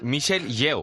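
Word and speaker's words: Michelle Yeoh: Oye, ahora me vas a explicar qué es eso del multiverso, pero antes quiero que me pronuncies, por favor, el nombre de la protagonista. Michelle Yo.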